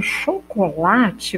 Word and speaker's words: chocolate: que encontro consonantal e quando eu falo chocolate vocês podem perceber que eu escrevo com ch mas eu pronuncio o som duches então se eu fosse perguntar para vocês qual quantos fonemas eu tenho chocolate vocês vão perceber que eu tenho o som do x e não ch então eu tenho uma